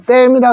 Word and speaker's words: dam: 자, 그 다음에 요거 A가 에 소리 나면은 damn 되죠. damn. 근데 요거 에가 아니고 아로 읽으면 담 되죠. 근데 우리 소양강 담이라 안 가죠. 소양강 댐이라 그러죠. 그러니까 우리가 이렇게 DAM이라고 쓰지만은 뭐라고 읽느냐 하면 우리가 댐이라고 해요.